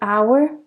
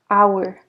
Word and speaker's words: hour: silent okay so an hour we do not pronounce the h hour so it's a silent